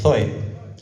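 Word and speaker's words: ζωή: La palabra griega vida aquí se traduce como la vida zoe, que la habrá escuchado usted, se escribe con Z, zoe.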